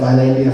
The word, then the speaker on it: Islandia: fellas that is pronounced Islandia not is landia to keep yourself fully informed please do this I should tell you by the way that I say Islandia I use the Spanish pronunciation pronunciation uh because it